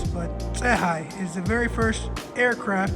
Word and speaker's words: Tsehai: It's called Tsehai. In Ethiopian culture, the TSE makes a T sound, so it's kind of hard to pronounce, but Tsehai is the very first aircraft made in Ethiopia.